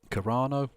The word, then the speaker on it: Carano: You're the one that was literally trying to suck off Gina Carano, or Caroni, or however the fuck you pronounce it. Carano, and saying, oh, they need to boycott Disney.